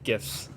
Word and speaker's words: GIF: Basically, the guy who created GIF said it's pronounced GIF, but it's graphics interchangeable format, and you don't pronounce.